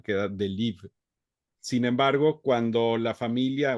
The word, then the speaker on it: Delibes: En francés nada más no pronunciamos la E y la S final, queda Delibes.